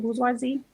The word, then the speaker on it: bourgeoisie: Bourgeoisie?